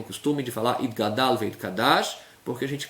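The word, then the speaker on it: יתגדל: Na hora de falar itkadal, é o gimel, pronunciar itgadal, não itkadal. Senão a pessoa troca o gimel pelo kuf e aí vai ser outra palavra.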